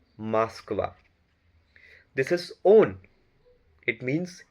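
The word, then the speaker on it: Москва: This is Moskva. Ma, a, sa, ka, va. Moskva.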